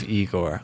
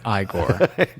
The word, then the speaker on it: Igor: in his role of eigor I'm sorry igore gotta say it right he's got it